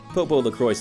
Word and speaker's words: PoPoLoCrois: I did think it was Popolocrois initially, but I believe even the game pronounces it as Popolocrois, so yeah, Popolocrois it is.